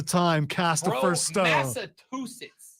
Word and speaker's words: Massachusetts: There is no T in the back end of Massachusetts.